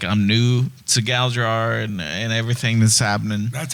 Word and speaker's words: Galdrar: I know, like, I'm new to Galdrar and everything that's happening.